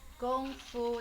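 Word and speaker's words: 功夫: What is Kung Fu? I think there's a huge misconception about what is Kung Fu. Kung Fu in Chinese means Gong Fu. That's how you say it. Gong Fu.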